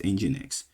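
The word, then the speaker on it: nginx: You know you spell you spell NGX but it's actually you pronounced NX.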